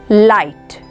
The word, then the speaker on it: light: is light in this word letter G is silent it is not pronounced it does not make any sound so the word is pronounced as light in this word letter